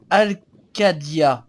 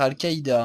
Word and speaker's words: Al-Qadia: Tu devras rejoindre Al-Qadia. J'ai failli dire Al-Qaïda.